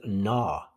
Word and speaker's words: gnaw: masticated fully before swallowing the next word is gnaw so the g is silent and not this is to bite